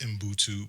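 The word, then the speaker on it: Ubuntu: And it's pronounced inbutu, but it's spelled u b u n tu.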